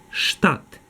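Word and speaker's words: statt: штат замість До речі тут буква С читається як ш штат замість ВІА би фіндент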